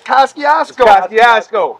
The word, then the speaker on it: Kosciuszko: They can't pronounce it. The J train worked. But it's Kosciuszko.